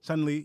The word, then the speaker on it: Chun-Li: Is it Chun-Li? Chun-Li? Chun-Li, yes.